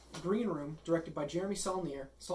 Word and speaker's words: Saulnier: Alright, so the first film we're going to cover is Green Room, directed by Jeremy Saulnier. Saulnier.